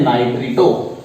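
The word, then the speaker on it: nitrito: इसमें से अगर हम E को हटाते हैं और O लगाते हैं तो बनता है नाइट्राइटो, जिसको हम बोल रहे हैं नाइट्रिटो, ठीक है।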